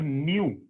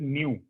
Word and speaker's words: nu: This symbol is called न्यू while pronouncing this thing, ठीक है, we can actually call it न्यू, NU, ठीक है, तो ये एक्चुअली न्यू है और ये हमारा न्यू बार।